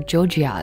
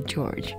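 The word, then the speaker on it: Jorja: 然后这首歌我自己蛮喜欢，但是陈柏希排出来的时候，其实我从来都不知道他的名字叫 George Smith，然后他的英文拼法是 J-O-R-J-A，所以你光看靠的时候，你可能会就是几乎会情不自禁的想要发出 Georgia 的发音，但其实是 George。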